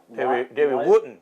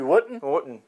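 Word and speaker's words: Davy Wotton: Davy Wooten. You got to say it like the Brits do. Davy Wooten. Davy Wooten.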